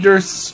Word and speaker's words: Durst: oh mama why since Fred Durst's name rhymes with worst they just act like